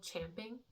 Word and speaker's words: champing: to go but actually did you know that it's spelled champing champing at the bit I mean you can say both it said both is you know accepted but anyway so champing or chomping at the bit that's